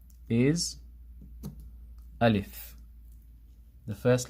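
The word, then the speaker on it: ألف: The first one is making the a sound heavy. O O olif ol if this is wrong.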